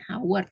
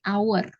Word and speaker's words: hour: dibandingkan contoh lainnya adalah kata hour Tapi saat membaca kita bukan menggunakan Howard tapi hour ya karena ketika saat pengucapan itu kata hour itu kan lebih terdengar seperti huruf vokal ya Jadi kita lebih